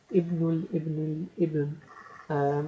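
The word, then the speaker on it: ابن الابن: the al ibn, and the proper way to say it is as ibnul ibn, and bintul ibn, um, and so this is a great grandson.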